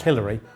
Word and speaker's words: Hilary: case I'm in a pretty sure it's pronounced Hillary but man tell or man tells I'm not sure what she prefers and she's obviously great